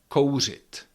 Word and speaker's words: kouřit: Horat that means to burn or co it.